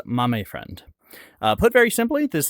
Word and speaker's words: Mame Friend: Well, a lot of folks have this question and the correct pronunciation is Mame Friend.